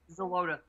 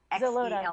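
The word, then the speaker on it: Xeloda: It's spelled, how do you pronounce it, Dr. O? Xolotl. Xolotl.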